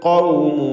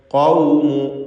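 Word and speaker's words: قوم: കദ്ദബത് ഖൗമു, ഖാഫിന് പൂർണ്ണമായ തഫ്ഖീം കൊടുക്കണം. ഇസ്തിഅലാഇൻ്റെ ഹർഫാണ്.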